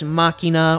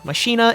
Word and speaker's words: Machina: is the rescue Ace Machina or mashina if you want some people prefer that that uh pronunciation but let's get right